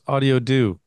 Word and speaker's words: Audiodo: on how to pronounce audiio do as I was saying it wrong yeah that's fine everybody has their own way uh but it's sort of how do you do how do you do